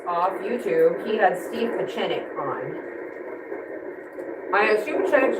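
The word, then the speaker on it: Pieczenik: But there's a chen in there. So Steve Pachenic.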